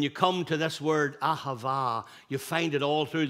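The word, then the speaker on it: אהבה: this one um the Hebrew word which is pronounced ahava means to give it's spontaneous it's it's impulsive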